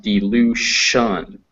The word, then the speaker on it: dilution: So this word is pronounced dilution. That TI is pronounced sh.